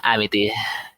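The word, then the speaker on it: Amitie: Amiti, which is another Puyo Puyo character that was the main.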